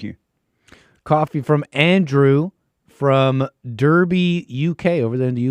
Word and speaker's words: Derby: Coffee from Andrew from Derby, UK, over there in the UK, says, hey, Jesse, hake darn done in Arkansas on me. Derby is actually pronounced Darby over in the UK.